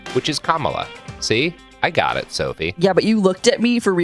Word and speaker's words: Kamala: Welcome to It Could Happen Here, a podcast about how to pronounce the vice president and maybe future president's name, which is Kamala.